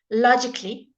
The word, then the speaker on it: logically: So some of the silent letters are when you have a C-A-L-L-Y.